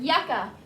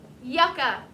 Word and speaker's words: yucca: the word yucca yucca how many syllables is the word yucca how many times does your chin hit your hand yucca two y u c c is the first syllable a is the second syllable yuck uh yucca is